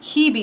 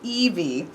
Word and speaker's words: Hebe: Hebe is what I guessed, but it is actually Evie.